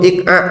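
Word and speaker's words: إقعاء: yang kedua adalah duduk ik'a. Tumit dirapatkan. Tumit dirapatkan, kemudian diduduki. Seperti ini ya. Tumit dirapatkan, lalu diduduki. Ini namanya duduk apa? Ik'a. Bisa diucapkan? Ik'a. Hamzah, alif ya. Qaf, ain, kemudian hamzah, ik'a.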